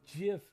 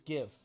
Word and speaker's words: GIF: not dead they just like plaques like it's pronounced jiff not gift vladim you are a cool guy you are